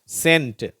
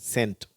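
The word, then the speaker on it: scent: ஸ்கேல் ஸ்கோர் scar ஸ்கேர் இப்பொழுது இந்த வார்த்தைகளை சொல்லும்போது அந்த இரண்டாவது எழுத்து சைலெண்ட் ஆயிடும் உச்சரிப்பிக்கப்படுவதில்லை வெறுமன சி அப்படிங்கிற உச்சரிப்பு தான் வரும் பாருங்க சென்ட் சரியா இதுல இந்த எக் என்ற உச்சரிப்பு இல்லை சென்ட் சயின்ஸ் சீனரி சீசர் அடுத்தது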